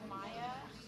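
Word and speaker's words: Maja: Okay, so I'm going to have Maya. And it's spelled M-A-J-A.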